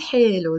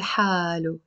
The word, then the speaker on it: حالو: Okay, so بيقتل حلو, they said. You can also pronounce it بيقتل حالو, he said.